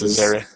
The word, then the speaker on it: Azaria: Hank Azaria, I don't know how to pronounce his last name. Hank Azaria, I think it's Azaria.